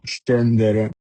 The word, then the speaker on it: scendere: pesce, P-E-P, S-C-E-C, pesce, scendere, S-C-E-sce, N-D-E-R-E, scendere, suono duro। যখন এসএচই এর পরে আ, ও অথবা উ থাকে তখন উচ্চারণ হবে স্ক।